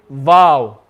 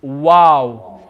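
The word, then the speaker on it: واو: couple of my students when they read this letter they say vow they'll say val remember there's no va in arabic okay it's wow make the lips into a circle shape wow wow and this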